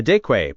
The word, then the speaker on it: deque: The deque, pronounced deck, is the most general linear container we've seen.